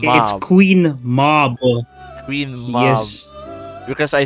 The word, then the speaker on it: Queen Mab: Queen Mabe.